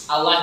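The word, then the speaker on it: الله: panjang kata Bu Ustad namanya mata zim Allah itu ndak mungkin dibaca pendek Karena kita mengagungkan nama ini nama zat yang Maha Agung Ya Allah maka bacanya harus dibaca apa ya maunya dibaca ya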